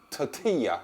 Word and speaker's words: tortilla: tortilla is actually to Tortilla tortilla if it's a double L it's pronounced as a y anyway that's for another